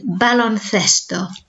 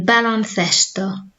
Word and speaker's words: baloncesto: And then remember our soft th sound, like in the number 5, cinco. So this is basketball, el baloncesto. And again, el baloncesto.